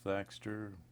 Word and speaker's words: Thaxter: title when you're on the bench F thxer last name is spelled t HX t r and I'm a